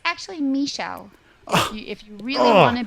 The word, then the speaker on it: Michele: all right so let's see here it's um Michelle that's the right pronunciation it's actually Michelle if you really want to be I thought